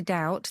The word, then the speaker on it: doubt: to go back to doubt that was spelt d-o-w-t in old english as sounds doubt perfect doubt that's the